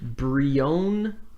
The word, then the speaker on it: Brionne: Brione, I might be pronouncing that wrong. It's Brionne.